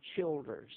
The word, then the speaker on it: Childers: And he's always called me Childers, Chil as in Childers.